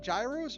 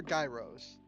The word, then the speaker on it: gyros: with chat but ah the g is silent that's gross foreign